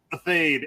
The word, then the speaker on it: Athayde: Athayde, at least in the States, that's how we say it.